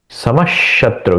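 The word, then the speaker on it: समः शत्रौ: समः शत्रो च मित्रेच समः समश शत्रु यहां पे श का द्वित उच्चारण करना होगा समश शत्रो च शत्रु शत्रु शत्रु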